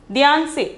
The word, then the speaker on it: ध्यान से: Dhyan se, pronunciation is dhyan se.